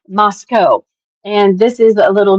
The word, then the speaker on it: Moscow: is that it is it is not pronounced Moscow. It is pronounced Moscow.